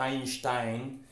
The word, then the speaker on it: Einstein: explicar a míster einstein la pronunciación correcta sería a in style pero no conozco a nadie que viva insta en secreto en algún documental y link o estéticamente decimos einstein que es tan bruto